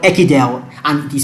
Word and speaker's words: Ekidel: of this video and our channel is called echidel and it is spelled e-k-i-d-e-l okay so right now you can